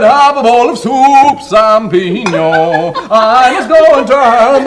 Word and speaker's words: champignon: Potage du jour, champignon. Notice that ñ sound, that's pronouncing it proper.